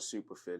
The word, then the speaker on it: SuperPHIT: My business is called Superfit. It's spelled SuperPHIT, which is an acronym for Performance, Health, Inspiration, and Teamwork.